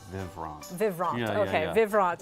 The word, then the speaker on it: Vivront: Well, us German Americans will say it Vivrant.